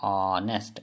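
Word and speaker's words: honest: जो साउंड निकल रहा है वो भावल साउंड निकल रहा है, ऑनेस्ट, ओ ओ, ठीक है, ओ, इसलिए यहाँ पे हम लोग एन डालें, ठीक है। लेकिन उसका पहला लेटर एच है, लेकिन उसका प्रोनाउंसिएशन को हम लोग देख के यहाँ पे एन डालें, ठीक है।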